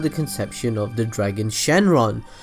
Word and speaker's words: Shenron: conception of the Dragon Shenron well Shenron or shenlong pronouncing the Monga is named after the